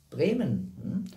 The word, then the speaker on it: Bremen: Wie wird es richtig ausgesprochen? Bremen.